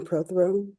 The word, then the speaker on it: Prothro: Good morning, Miss Prothro. Am I pronouncing your last name correctly? Yes, ma'am. Prothro.